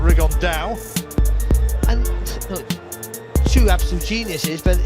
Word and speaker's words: Rigondeaux: rigondo or as he's correctly pronounced with the spanish accent rig on dao and two absolute geniuses